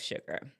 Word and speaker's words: sugar: Let's go on to the next criteria of sugar. And we look again, it's sugar and surge. Sugar is the only word in the English language that begins with SU that is pronounced sh.